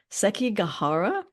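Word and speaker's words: Sekigahara: the Battle of and I'm not going to pronounce this correctly SEI gahara no you did actually pronounce it um pretty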